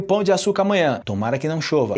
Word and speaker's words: Pão de Açúcar: de Açúcar né o Pão de Açúcar cuidaram nessa pronúncia recentemente eu gravei um vídeo só falando sobre isso sobre a diferença entre pão e pão Ok Pão de Açúcar e não tanana de Açúcar em espanhol Geralmente se